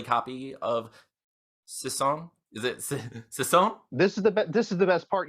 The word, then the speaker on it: Sissonne: I think the proper pronunciation, if you were a ballet type person, is Sissonne, like Sissonne.